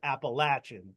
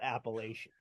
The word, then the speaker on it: Appalachian: in West Virginia without telling you that it's Appalachian not Appalachian thank you Appalachia now